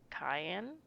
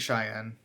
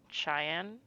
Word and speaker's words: Cheyenne: such as the, and I'm sorry if I mispronounced this, Cayenne. I think Cheyenne, Cheyenne, Arab, Arapjo, Lakota, Black Feet, I don't know that one.